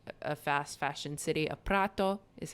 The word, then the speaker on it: Prato: Chinese workers and a fast fashion city of Prato, is how they say it. Prato.